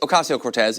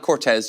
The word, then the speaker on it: Ocasio-Cortez: Twitter, that it is Ocasio-Cortez. It's not Cortez. You don't get to decide that you're just going to say half of her name.